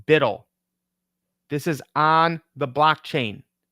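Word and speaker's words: BUIDL: their CEO this is Black Rock USD it's pronounced bidle this is on the blockchain now you can't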